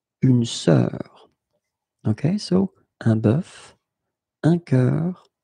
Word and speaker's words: bœuf: And the first one is un bœuf, un cœur. It's actually quite interesting, because even if you write them differently, you pronounce them the same way. Un œil, un œuf, une sœur. Okay, so un bœuf, un cœur, un œil, un œuf, une sœur.